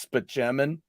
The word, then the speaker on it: Spaceman: Spaceman, but it's actually pronounced Spaceman.